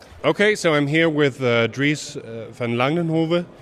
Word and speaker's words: Dries van Langenhove: Okay, so I'm here with Dries van Langenhove. Is that pronouncing it right? Dries van Langenhove, yes.